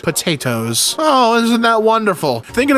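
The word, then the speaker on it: Pot-8-Os: He is best known for the unusual spelling of his name, pronounced potatoes.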